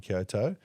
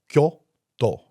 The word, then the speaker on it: Kyoto: You're not going to be able to walk that one from Kyoto. But You can try. maybe, or I should say, let's get our pronunciations right. Kyoto.